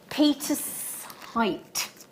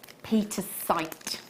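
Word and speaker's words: pietersite: to say it anyway I have got here Peter's height Peter site say it right Xena but wonderfully in rounds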